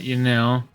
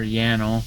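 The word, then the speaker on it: Yanille: So, I am here at Yanil or Yanel, however you want to pronounce it, to uh start harvesting these god grapes.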